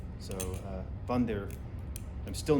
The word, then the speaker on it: Wander: it is pronounced correctly the w is pronounced as a v so vondir but with a rolling of the r so uh bunder i'm still not pronouncing